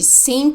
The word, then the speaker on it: seemed: teach Andrea sinned she seemed happy at the party she seemed happy at the party the Ed sounds like d c Med seemed with